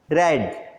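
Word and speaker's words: read: Second, you should have रेड, उसे पढ़ना चाहिए था। रीड, रेड, रेड तीनों फॉर्म एक से हैं, स्पेलिंग सेम रहती है, लेकिन यह रीड का थर्ड फॉर्म है।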